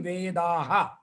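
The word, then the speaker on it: वेदाः: Vedaha means with Visarga, I'm pronouncing Vedaha.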